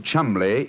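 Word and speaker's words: Cholmondeley: Being an American, he had no reason to know that the name Chumley is in no way pronounced the way it is spelled.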